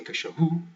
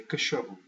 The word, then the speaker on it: cachorro: count back 2, and that middle one is the one that gets the stress. Cachorro. You don't say cachorro or cachorro, you say cachorro.